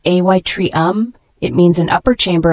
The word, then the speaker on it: atrium: Parts the word Atrium a t r IU M it's a noun pronounced ay Tre um it means an upper